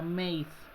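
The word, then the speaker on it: made: hacer es más de se escribe más de pero se pronuncia mails m a de más de mails si le pronuncian como madre es incorrecto chicos y quitar puntos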